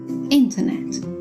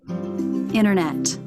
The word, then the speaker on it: internet: an in for finally in American English the letter T is sometimes dropped after an N for example in British English we would say center interview internet now listen to her Rachel